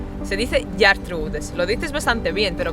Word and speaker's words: Ģertrudes: Se dice Gertrudes, lo dices bastante bien, pero claro, Sí, falta un poco.